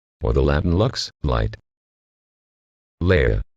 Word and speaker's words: Leia: the Latin Lux light Leia the name has been pronounced with either a long a or a long e sound as the former Leia